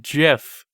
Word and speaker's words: GIF: It's hard G. It's GIF.